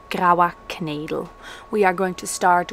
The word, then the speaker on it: Graua Knedel: Okay, recipe number one, which is pronounced Graua Knedel.